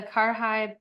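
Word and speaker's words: karahi: the Karhai Paneer. Looks like Kadai, but it's pronounced Kar.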